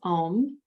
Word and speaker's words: Om: So this is a 4-syllable word, and some of you have learned this from me before. The word is Om, so it's I should do it this way, A-U-M, silence. The 4th syllable is silence. So it's A-U-M, silence. When you're saying the A sound, it's ah. So it's like the doctor checking the tonsils.